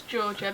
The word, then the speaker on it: Jorja: So, my name is Georgia, but it's spelled J O R J A. No one seems to know what my name is when they read it. It's like if you say Georgia, it it's said how it's spelled.